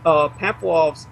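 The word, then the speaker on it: Pamfiloff: Now, his home at 2430 Leavenworth was raided by Inspector Glenn Pamphloff of the San Francisco Police Department, and Pamphloff's surname is spelled P-A-M-F-I-L-O-F-F, Pamphloff.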